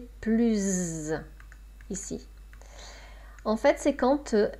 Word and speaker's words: plus: Là, je ne dis plus un mot. Donc là, c'est une négation. D'accord? Et avec une voyelle qui suit plus. Plus. Donc on prononce plus un mot.